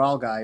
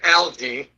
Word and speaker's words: algae: there you have your algy within the ocean. So but but I take the opportunity to ask you this. Yeah, we pronounce it in in uh America algae and uh yes um